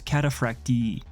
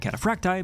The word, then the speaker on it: Cataphractii: but from my understanding, the technically correct way of pronouncing this word is catapracti or at least something close to it. That said, I've been pronouncing it catapracti because I think it sounds cooler and because it matches with pronunciation of more common words like cacti, even if there are